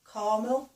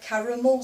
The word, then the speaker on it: caramel: one again I think he didn't pronounce the second a he said caramel I think didn't he I think so we say caramel c a r a m e l caramel caramel yeah so I